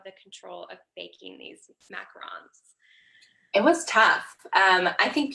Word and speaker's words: macarons: What I make are French macarons. It's a French word, so the pronunciation is a little bit different, but there's actually only 1 O.